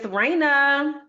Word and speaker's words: Reina: to start with is Raina. So Raina is my hair. And Raina is spelled Reina. Shout out to Raina. And Raina's emoji is the crown because Raina is the Spanish word for queen.